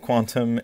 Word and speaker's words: Qtum: This time on Qtum, which is spelled Qtum, but I'm pretty sure it's pronounced Quantum, and I'm going to